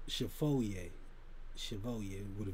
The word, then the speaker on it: Chevalier: foe the photo Chevalier it spelled like Chevrolet or something like that but it's pronounced Chevalier so I just you